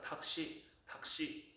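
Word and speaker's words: タクシー: 택시는 영어니까 다크시인데 푸 다음에 사시세도 묵음. 그래서 타크시 하다가 탁시 이 묵음처럼 들리게 되죠.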